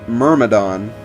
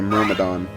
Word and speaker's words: Myrmidon: she is a mere Myrmidon I called her I called the units near madhan's and earlier episodes but then I realized the pronunciation is actually Myrmidon and Myrmidon czar solo